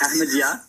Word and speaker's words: Ahmadiyya: It's Ahmadiyya.